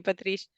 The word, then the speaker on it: Patrice: special guest Patrice Kelly have I pronounced your name right I know that Italian it could be tricky to pronounce it how are you Patricia yeah that's perfect that probably sounds nicer